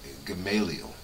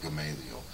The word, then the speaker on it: Gamaliel: under a theologian named Gamaliel or gamble however you want to pronounce that I call it Gamaliel who was one of